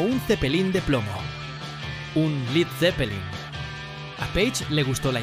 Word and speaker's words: Led Zeppelin: Un Led Zeppelin. A Page le gustó la idea, pero eliminó la A de Led para evitar una pronunciación incorrecta.